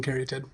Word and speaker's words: Caryatid: I know that's the dictionary definition, but everyone says sylvan caryatid. I believe the pronunciation is sylvan caryatid.